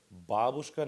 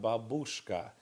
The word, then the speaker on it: babushka: and grandfather make sure babushka not babushka there there's a strange propensity for saying that make sure babushka the emphasis is on the first syllable the next line down